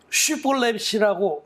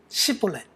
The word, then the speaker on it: 쉬볼렛: 그래서 쉬볼렛이라고 말해라. 한번 해봐라. 말해봐. 자기가 이제 나는 에브라임 사람이 아니다 그러고 막 건너가려고 그러면 쉬볼렛이라고 한번 해봐. 그러면 시볼렛 하고 이렇게 SH 발음이 안 되고 S 발음밖에 안 되는.